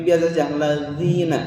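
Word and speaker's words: الذين: Dan jangan pula pengucapan za ini terlalu ke Z, karena suka ada siratal lazina itu ke terlalu Z, itu salah ya.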